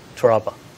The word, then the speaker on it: Torralba: How do you pronounce it? Toralba.